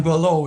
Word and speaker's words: Boileau: Bob, how do you say it? John Below is who you're talking about.